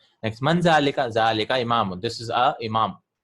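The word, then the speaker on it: ذٰلِكَ: zalika is pronounced as zalika. देखिए इसको पढ़ते हैं zalika लेकिन ऐसे लिखा जाता है क्योंकि सहाबा ने ऐसे लिखा, ज़ालिका ऐसे लिखा था.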